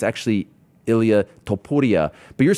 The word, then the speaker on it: Topuria: It's one thing for me to sit here and be like, okay, it's actually Ilia Topuria, but you're saying that like, how does that happen?